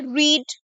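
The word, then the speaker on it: read: रीड रीड। अब देखिए रीड जो है ना वह बहुत इंपॉर्टेंट है।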